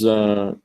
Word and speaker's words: gone: And eventually there's gone, but not gone, gone, alone, in order to rhyme with alone.